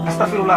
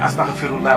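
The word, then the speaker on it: أستغفر الله: nit ñi di moytu di wax astaghfirullah astafirullah mooy maa ngi daw yàlla. waaye astaghfirullah mooy maa ngi jégalu yàlla. xaaf bi waaw xam nga prononciation bi. waaye ñu bëri nag astafirullah kii daw yàlla moom da koy daw rek.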